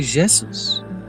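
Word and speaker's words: Jesús: cattle Catalonia and then Catalonia A J is pronounced like a J in French so you say Jesus the people pilgrimage here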